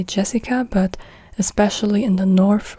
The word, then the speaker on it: Jessica: And the J, like with J, J is not pronounced like in English. In English you say, as an example now, let's just use my name. So in English you would say Jessica, but in German you say Jessica.